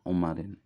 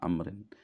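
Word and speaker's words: عمر: Ibni Amrin umarin ya umarin jadi Umar ini bacanya Umar bukan Amrin ini Umar jadi Maula Ibni umarin Wai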